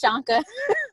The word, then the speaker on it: Shanka: Am I pronouncing your name right, Shanka? I couldn't find it. It's Shanka.